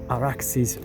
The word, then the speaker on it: Arax: by the Arax or Araxis river using the Persian Aadian Sumerian pronunciation. It's Arax but it's the derivation is much more ancient.